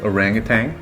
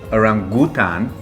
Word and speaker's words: orangutan: Orangutan is what Americans and most Westerners say. Orangutan, which is how you would say it in Malay. And then, or Indonesian. Or in Indonesian. And then orangutan, which other people have also said. There is no tang. It's not a space drink.